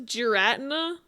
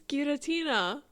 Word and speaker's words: Giratina: Wait, Ryan says Geratina. No way. Not geratina. It's Guiratina.